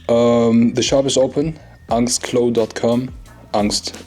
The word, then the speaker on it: Angst: Angst, it's pronounced Angst.